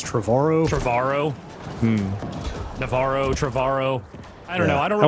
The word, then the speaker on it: Trevorrow: Before they fired, I always say Trevorrow, but like, he says it rhymes with tomorrow, so does that mean it's Trevorrow?